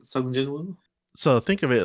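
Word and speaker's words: Sung Jinwoo: I saw the change in character progression with Jin Sung Woo.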